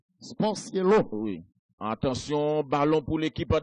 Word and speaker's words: Sportiello: Alors, en italien, deux L pas prononcé yo. C'est l'eau. Sportiello.